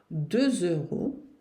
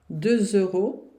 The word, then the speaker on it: euros: 2 euros. Cuidado para não confundir com 10, que são 2. 2 euros. 2 euros. Veja bem a boca. 2 euros. Se fossem 10, 10 euros. D'accord? 2 euros, 10 euros.